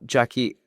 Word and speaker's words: Jacqui: Right now, feel free to go find me on LinkedIn, Jackie. And it's spelled beautifully, so j a c q u i.